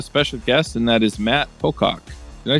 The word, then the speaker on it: Matt Pocock: So it would be the correct pronunciation would be like Matt Pocock? Or Matt Pocock, yes, exactly.